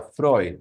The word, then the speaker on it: Freud: Se escribe Freud, pero se pronuncia Freud, ¿no?